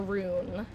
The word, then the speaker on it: Ruin: I'm curious, do you guys say Ruin as Ruin, like 2 syllables, or Rune, like 1 syllable? I'm a 2, as you can hear, I'm a 2-syllable girly.